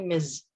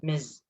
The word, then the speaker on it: Ms: in the working field the pronunciation of the last one is actually ms with z so instead of miss it's ms putri means fifi it